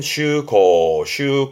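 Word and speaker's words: 舟航: 그러니까 배를 타고 먼 바다를 다니는 그 항해를 말하는, 발음은 슈코. 그래서 주항이지만 우리말로는 항해를 의미하게 되는데, 이 주자의 음독이 슈라는 걸 보여드리고자 함이고, 주로는 훈독으로 가요.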